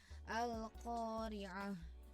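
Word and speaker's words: القارعة: dua harkat panjangnya kemudian di kalimat akhir al-qariah disitu ada tak marbutoh cara membacanya bila waqaf maka tak berubah menjadi hak yang di wakaf-ii Jadi dibacanya al-qariah seperti itu ya berikutnya di ayat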